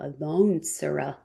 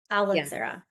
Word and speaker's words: Alansara: Keep wanting to pronounce the O, Alansara. Alansara. The emphasis is on the A, not the O. Alansara.